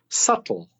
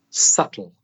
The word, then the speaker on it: subtle: T L e so first of all the letter B is silent the B is silent but as well as